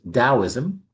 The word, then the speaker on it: Daoism: it or not, for no matter how it's spelled, it's typically pronounced Taoism.